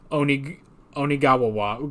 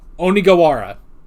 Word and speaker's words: Onigawara: I try to do Onigawawa. Ugh, I'm turning into like darts from Yu-Gi-Oh! Abridged. Onigawawa with the Kaukamawos. Now, Onigawara. I have to remember to say it like that.